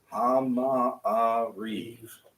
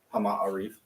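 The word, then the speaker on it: המעריב: Yeah, if you're if you wind up writing it out, if you're transliterating it, you're gonna wind up doing ha, ma, reeve. Hama-a-reef. You're gonna wind up with a break Hama-a-reef. between the two ahs.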